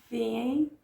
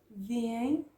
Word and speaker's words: veem: Vejo, vês, vê, vemos, veem, veem. This one is a hard one to pronounce. I know. But it goes veem, veem.